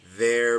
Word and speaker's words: they're: No tengo que hacer un esfuerzo por pronunciar esa Y cuando estoy contrayendo they are. Suena there. No there, there. They're busy.